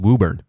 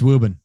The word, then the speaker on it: Woburn: even though it's phonetically spelled Woburn it is pronounced wubird yep and you can kind of subtly drop VR most of the way like Ruben woven it's wubin yeah but if you're you know you're being